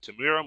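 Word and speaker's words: Temuera: I was close well I don't have to pronounce it but Tim bura Morrison yeah Tamira Morrison if he comes if he you know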